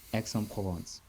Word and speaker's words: Aix-en-Provence: where i'm from exoplanets exxon provence nice yeah good pronunciation it's not easy to to say because it's quite long so yeah x like the letter x yeah is the the